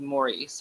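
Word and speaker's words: Maurice: out after his death so spelled like morrice in America said like Morris in Britain and um I think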